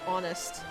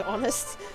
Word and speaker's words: honest: i actually don't know how you would say honest without the h because the h is silent and how most people over here say honest you know what ever